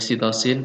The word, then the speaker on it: sitosin: Ada C itu citosin atau kita membacanya sitosin, A ini adenin, G itu guanin, ya kan, sitosin, guanin, adenin, sitosin.